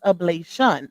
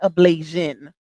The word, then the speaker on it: ablation: field trip for her ablation, like she say, even though it's ablation, not ablation, baby. There's no Asian in that word, okay? It's Tion, not IAN, okay? It's ablation, not ablation.